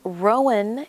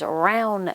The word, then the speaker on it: Rowan: And I found out that Rowan is not the correct pronunciation. It is Rowan County.